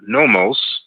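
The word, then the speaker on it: Nommos: The Dogons called them nomos, spelled N-O-M-M-O-S. The Yoruba referred to them as Olukun, that's spelled O-L-U-K-U-N, as in Nancy.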